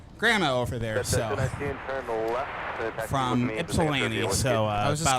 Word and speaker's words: Ypsilanti: Yeah, I was visiting my grandma over there, so from Ypsilanti, so I I was just going to say Ypsilanti. Even though there's a Y in the name, it's not how it's pronounced.